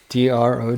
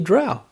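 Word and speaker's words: drow: it drw instead of D Dr elves d d r o w Dr yeah and by the way it was confirmed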